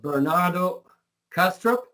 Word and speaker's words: Bernardo Kastrup: Bernardo Castro is that correctly pronounced um it's correct yeah Bernardo has a